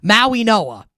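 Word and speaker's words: Mauigoa: Francis Maui Noah is the Miami offensive lineman is how it's the G is silent in his last name. Maui Noah.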